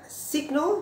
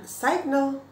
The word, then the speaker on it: signal: Nah bahkan signal, sign, kemudian ada signal, bukan signal, tapi bacanya signal gitu ya.